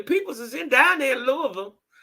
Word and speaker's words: Louisville: Well, you know, your peoples is down there in Louisville. Now, we say Louisville. But they say Louisville. I think that's how they say it, Louisville.